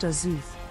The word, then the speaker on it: Azuth: Azuth, pronounced Azuth, also known as the Lord of Spells and